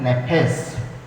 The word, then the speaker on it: nephesh: इब्रानी भाषा में प्राण शब्द का लिए जो शब्द प्रयोग किया जाता है वो है नेफेस, NEPHESH, उसको हम प्रोनाउंस करते हैं नेफेस, जिसको अलग अलग रूप में प्रयोग किया गया है।